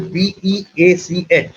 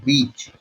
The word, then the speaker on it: beach: Then there are two similar sounding words. One is beach, what says beach, and the other is bitch, which you know what it is. So you have to be very careful in your pronunciation, in your use of